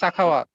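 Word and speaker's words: Sakhawat: Because yes, as he said, let me see, am I pronouncing your name correctly? Sakawat? Yeah, it's Sakawat.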